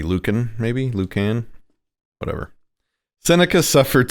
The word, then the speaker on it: Lucan: the brilliant young poet Lucan? I don't know how to pronounce the C. I think it's a hard C. Lucan, maybe?